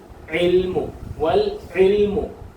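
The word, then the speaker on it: وَالْعِلْمُ: വരുന്ന അലിഫിന് ഉച്ചാരണമില്ല ഇല്ല പദത്തിന്റെ ഇടയക്ക് വന്ന അലിഫിന് ഉച്ചാരണമില്ല പറയത്തില്ല ഇതിനെ വായിക്കത്തില്ല ആ ഈ ഉ എന്ന് വായിക്കത്തില്ല വൽ വൽ വൽ വൽ വൽ ഇൽമു വൽ ഇൽമു വൽ ഇൽമു വൽ ഇൽമു വൽമു ആ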